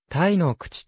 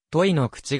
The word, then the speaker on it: 樋之口: 所在している樋之口の読み方はた井口とも呼ばれることがあるが鹿児島市第 1 巻にはと井口が正しい発音であると記載され